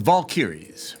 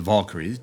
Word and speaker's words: Valkyries: find them for you called the ball carries or the Valkyries depending on how you like to pronounce it bring them to